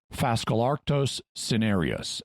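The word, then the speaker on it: Phascolarctos cinereus: common koala which is fascalarctos cenerius and yes i'm using a basically english pronunciation even though this name is partly based on greek and latin because i don't want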